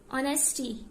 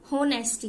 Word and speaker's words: honesty: ऑनेस्टी ईमानदारी HONESTY यहाँ पे हम H को, ये H साइलेंट है, हम H से नहीं रीड करेंगे, O से करेंगे। ऑनेस्टी स्पेलिंग इसके HONESTY है बट H साइलेंट है। ऑनेस्टी बोलेंगे, नॉट होनेस्टी, इट्स ऑनेस्टी।